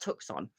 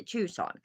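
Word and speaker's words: Tucson: say it is it obviously it's not tuxon which I knew it wasn't by the way but it's a tuon hi Tim I doing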